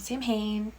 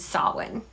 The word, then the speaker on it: Samhain: It takes place in a Halloween-themed town known as *brain short-circuiting on pronunciation* Samhain not Samhain, you idiot. It takes place in a Halloween-themed town named Samhain!